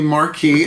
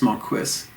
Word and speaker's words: Marquis: They tend to call me Marquis, and I have to clear my throat and say the correct pronunciation is Marquis.